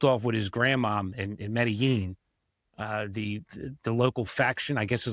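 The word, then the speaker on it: Medellín: He was born in a small town of Rio Negro, right outside of Medellin.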